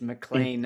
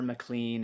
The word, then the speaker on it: McLean: I'm still like, hey, you don't actually, it's not Sinclair, it's Sinclair, and it's McLean, it's never McLean, and it's, because a